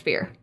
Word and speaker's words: Firre: are the Fear, spelled Firre. Firre. Fear. Pronounced Fear.